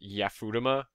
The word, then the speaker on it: Yafutoma: Someone here has to know how to get to Yafutoma. I've heard it pronounced Yafutama, but I don't like pronouncing it Yafutama.